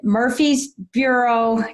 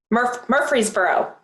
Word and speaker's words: Murfreesboro: f m bank in i can't pronounce it murphy's bureau did i do it right or wrong murfreesboro murfreesboro tennessee and you'll hear that